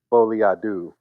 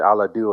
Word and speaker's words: Folie à deux: Folie à deux. I've been saying à la deux all day.